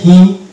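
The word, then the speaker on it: hymn: অনুরূপভাবে এটা হয়ে যাবে হিম, হিম বা হাইম, এখানে এন সাইলেন্স থাকছে।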